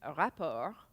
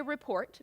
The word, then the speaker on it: rapport: easy harmonious rapper but you don't say report because that's what you're filing when